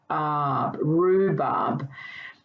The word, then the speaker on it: rhubarb: can read this one rhubarb have you worked out the silent letter in this word you write again it's the h letter and the rh is that grapheme for er what about this word